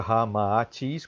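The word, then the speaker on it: Ramatís: aquele que segue Ramatis a pronúncia correta Ramatis com dois ais tá em manico e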